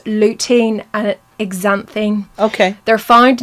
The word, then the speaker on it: lutein: They are hard to spell, so we will type them up after, but they're pronounced lutein and xanthine.